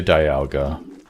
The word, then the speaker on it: Dialga: I say Dialga. You're gonna restart your PC, none of your apps are opening! Oh no. Say it like dial. Dialga.